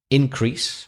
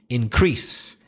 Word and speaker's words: increase: And if it's a noun, you'll probably stress the first syllable, like increase or export. And then if it's a verb, you're going to stress the second syllable, increase, export.